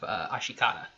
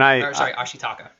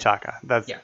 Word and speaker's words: Ashitaka: He preferred a different title for the movie called The Legend of Ashikata. And Ashitaka. Jeez, can't even say his name. Ashitaka.